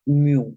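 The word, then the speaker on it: ν: ню коефіцієнт тертя тертя читається як буква ню ця грецька буква і N ми зустрічали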